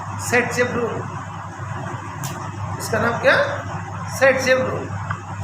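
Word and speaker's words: Зайцев: इसको फाइंड किया था अलेक्जेंडर जेटसेफ, और लिखते हैं जेटसेफ। प्रोनाउंसिएशन करते हैं सेट शेप।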